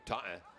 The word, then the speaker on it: Taunton: 5 draw control wins for the Bombardiers, 3 for Taunton, or we should pronounce it properly, Taunton.